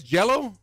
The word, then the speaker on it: Gelo: with what do you say his name is jello melon little ball middle ball middle ball is